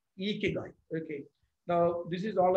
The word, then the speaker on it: Ikigai: So, but the right Japanese pronunciation of this is Ikigai.